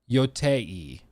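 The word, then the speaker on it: Yōtei: Yoti or Yoti. Can somebody describe how it's pronounced? Let me Google it. Yotei.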